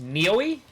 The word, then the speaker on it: Noi: Um, it's like when you stub your toe.